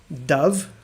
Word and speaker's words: dove: couple other harder ones so we have dove which is um a white pigeon basically you know when they when we have peace we have a white dove i think that's gullib golov is that right in russian tell me if i'm right or wrong okay but there's also a verb tense a verb that looks exactly like that and that is dove or dived it's the